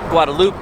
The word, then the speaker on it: Guadalupe: Guadalupe by the name or guadaloop if you want to say it properly by the name of